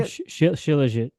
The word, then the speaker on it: Shilajit: It's Shaljit, is that how you pronounce it? Which one are you talking about? The first one, Shilajit?